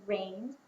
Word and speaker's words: rained: what about rained say rained quietly I hear a du sound at the end of rain d what about handed say